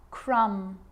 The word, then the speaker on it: crumb: It's always silent when it follows the letter M. Climb, crumb, lamb, thumb, dumb, and plumber. So practice them with me. I'm not pronouncing the B, I'm just pronouncing the M consonant sound.